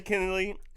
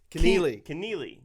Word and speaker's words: Kennealy: Josiah Kennealy. I'm saying it wrong still. Kennealy.